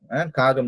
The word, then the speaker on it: காகம்: காகம் நம்ம உச்சரிக்கும் பொழுது அந்த கம்னு வரணும், காகம்.